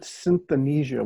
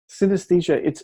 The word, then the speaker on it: synesthesia: used to pronounce it synthenesia, which sounds really cool, and maybe my next book will be called that. But synesthesia, it's essentially a melding of your senses.